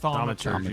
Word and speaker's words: Thaumaturgy: Thaumaturgy.